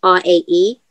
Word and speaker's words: R.A.E: like to introduce everybody straight from the uk ray ray what's going on hi i'm good funky it's actually pronounced r-a-e it's r-a okay so i meant to i